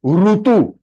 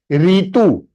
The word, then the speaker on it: ऋतु: इस तरह प्रोनाउंसिएशन में डिफरेंस है, ये री नहीं है। काफी लोग कैसे प्रोनाउंस करते हैं, रीतु और ऋषि, wrong. It इज not Sanskrit, it is Hindi.